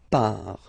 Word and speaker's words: pars: So final S not pronounced. Je pars.